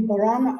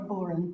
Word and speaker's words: Boran: Am I pronouncing that correctly? Yes, it can be Boran or Boran.